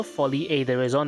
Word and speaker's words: Folie et Déraison: Folly Aison. That is the correct pronunciation apparently.